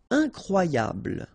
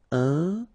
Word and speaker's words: incroyable: Incroyable. Okay, same thing here for the final E. Don't pronounce it. So, incroyable.